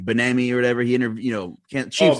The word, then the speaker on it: Bieniemy: Benami or whatever. He interviewed, Chiefs offensive. Bieniemy.